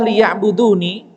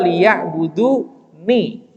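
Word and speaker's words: لِيَعْبُدُونِ: Bahwa al-ibadah liya'buduni, kalau wa ma khalaqtul jinna wal insa illa liya'budun, kita bacanya waqaf. Tapi kalau dibuka itu Pak, dibuka di mushafnya, itu nunnya itu adalah liya'buduni.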